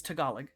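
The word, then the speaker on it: Tagalog: none of you can understand uh it is tagalag which is the language of the Philippines uh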